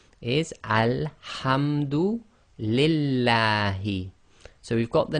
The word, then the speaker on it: Allah: again this will be pronounce it with a la as in the name uh as in the word lamb in English so again alhamd you